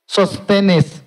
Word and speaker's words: Sosthenes: Antay lang Ilocanonan, basta dito pronunciationan. Sosthenes, kunan na.